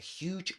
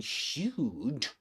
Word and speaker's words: huge: Okay, and in huge, we pronounce this word with the same syllable, the same vowel sound as in music.